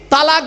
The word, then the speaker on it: তলাক: তালাক বলেন না? খবরদার কেউ বলবেন না তালাক। শব্দটা তালাক নয়, শব্দটা হলো তলাক।